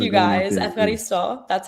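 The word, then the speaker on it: ευχαριστώ: Efkaristo, that's how you say it.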